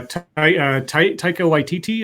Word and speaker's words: Taika Waititi: Yeah, Taika Waititi, I think is how you say his name.